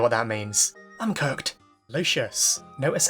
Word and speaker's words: Lucius: Lucius. Notice how I finally corrected my pronunciation of his name, by the way.